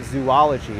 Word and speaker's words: zoology: Often the same word, same thing with Z-O-O-L-O-G-Y. You think it would be pronounced zoology, but it's not zoology, it's zoology. There's no extra O in that word.